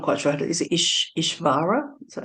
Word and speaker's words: Ishvara: Is it Ishvara? Is that how you say it? Ishvara, that's right.